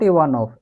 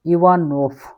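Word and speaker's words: Иванов: Ivanov. Not Ivanov. Ivanov. Ivanov. Drug. This is drug. Friend. Club. This is friend. Ivanov is name.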